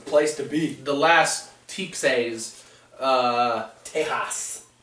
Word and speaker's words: Tejas: Tejas. Yeah. That's how you say it in Spanish.